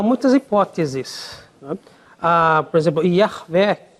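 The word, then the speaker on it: Yahweh: Por exemplo, Yahvé, que muitos adotam, é uma construção que ficou comum a partir do século XVIII para frente. Mas, hoje em dia, há vários estudiosos que acham que talvez houvesse outras pronúncias possíveis, como, por exemplo, Yahu, por exemplo, Ierro, por exemplo. Parece que, hoje em dia, está mais para aceitar essas duas pronúncias, mais Yahu, possivelmente.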